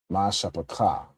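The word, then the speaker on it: משפחה: Mashappa, right? Mashappa is how you say family in Hebrew.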